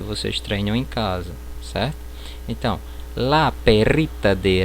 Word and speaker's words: casa: No espanhol esse S ele não terá som de Z. Por exemplo, casa, eu vou pronunciar caça, certo?